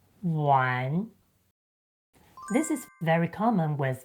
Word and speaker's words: 玩: When combined with the meaning brick ⺩, the initial sound shifts from ‘yu’ to ’u’. So, it becomes U + AN = ‘wan’.